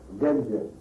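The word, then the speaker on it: Gandía: de Gândia, ou Gandia, não sei como em castelhano se deve pronunciar, Gândia ou Gandia? Gândia. Bem, então estou pronunciando sério, estou pronunciando certo.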